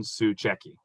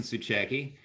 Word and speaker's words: Tsuchecki: back to mr tsuchecki did i pronounce that correctly you did so again my name is tsuchecki and the question is